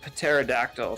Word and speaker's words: pterodactyl: your favorite dinosaur uh the uh pterodactyl because it has a silent p so why that definitely